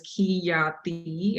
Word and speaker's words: Khyati: My name is Khyati. The way it's pronounced is Khyati, and then you just put it all together.